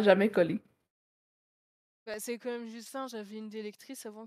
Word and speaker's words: Justin: disais bah Non, non, pas c'est Justine! pas ça. Non! Ah, qui le Non! lisait Justin, par exemple, ça c'est Justin. Justin, le N ne se prononce pas, c'est un ouais.